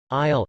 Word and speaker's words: isle: divides rosa seats and isle and island especially a small one are both pronounced al the s is silent in both the confusion between these